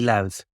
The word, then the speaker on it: Louth: County Louth. Sorry. Yeah. We pronounce it loud, L-O-U-D. So it's loud and proud.